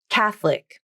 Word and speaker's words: catholic: pronunciation with vowel syncope catholic the middle o is dropped from the pronunciation and i think this is the more common pronunciation that most native speakers use in their daily conversations catholic however you might